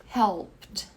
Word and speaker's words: helped: Helped. Aqui também, esse E é mudo.